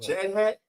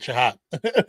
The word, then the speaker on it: Chahat: We got Chad Hack. That's what that is. Chad Hack. Chahat. Yeah, Chahat. Chahat. How you Chahat? Let me say it right. I just pronounce it Chahat.